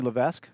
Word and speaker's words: LeVesque: Eugene, Oregon, and we're joined here with LeVesque. Is that how you pronounce That's her it, last name?